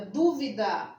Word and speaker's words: dúvida: fica fácil né e no caso da palavra dúvida a palavra dúvida é a primeira acima do é acentuada